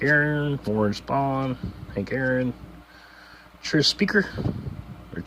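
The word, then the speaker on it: Tris: Tree Speaker. It's actually how you pronounce it, but whatever.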